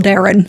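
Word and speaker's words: Daeron: call on them to the which is apparently pronounced Darren so great now I have to get used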